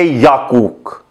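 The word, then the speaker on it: 약국: बाद देखें कू कुक, लेकिन अब हुआ यूं क्योंकि नीचे वाला जो काफ है तो अगला जो हमने जी पढ़ना था तो वो साइलेंट हो गया, तो इसलिए हम इसको पढ़ेंगे याकूक।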